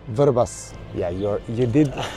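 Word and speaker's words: Vrbas: mhm uh I would try for you to pronounce the name of the river it's called verbas verbas yeah you're you did like a local you're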